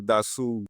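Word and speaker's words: Dassault: Dasu. Okay, उसका जो real नाम है वो दासू है। Yeah, that's a French word, so they spell it that way.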